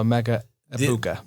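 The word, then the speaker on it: Emeka Egbuka: Apparently the G is silent. Gotcha. So Amecha Ibuka.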